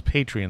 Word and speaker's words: Patreon: Also, if you're a Patreon, and it's Patreon, just in case anyone misunderstands this, it's not Patron, it's Patreon.